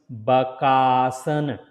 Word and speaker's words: Bakaasana: So, it is a Ba and Ka, Baka, then Asana. And if you put all together Bak and the Asan, then it becomes Bakaasana.